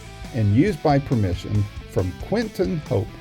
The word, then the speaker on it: Quinten: The theme song is Roll the Dice and is recorded and used by permission from Quentin Hope. Quentin is spelled Quinten, and Hope is Hope.